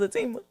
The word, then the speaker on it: Zatima: But if y'all, spoiler alert, if you have not watched, and I used to say Zatima, but it's Zatima. It's pronounced Zatima.